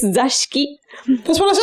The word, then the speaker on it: Zashiki: You called me for my pronunciation of grape wine. Yeah. Now I'm catching you for the Zesty-Onna. The zesty, fruity woman. No, actually, it's Zashiki.